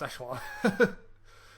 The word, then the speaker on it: Echelon: Yeah, well, that's how it's pronounced, Echelon.